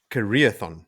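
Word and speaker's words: Karaethon: its official name, and it is the Careathon cycle, like you said, Joe.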